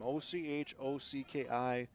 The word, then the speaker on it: Ochocki: Ochocki, O'Husky.